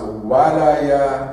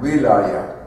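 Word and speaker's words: ولاية: be pronounced as a Walaya and Wilaya. Both of them are correct. They come from two Arabic, different Arabic words.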